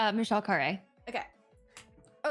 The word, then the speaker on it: Khare: It's Michelle Khare. Okay. Oh, it's pronounced Khare.